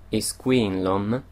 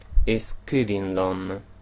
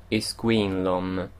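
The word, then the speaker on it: Is cuimhin liom: canzone viene ripetuta più volte un'espressione molto tipica esquin Lom che è anche il titolo del brano e vuol dire io ricordo o mi ricordo io la pronuncio alla maniera del Monster Quindi ripeto is Queen Lom Ma nella canzone sentirete più una modalità da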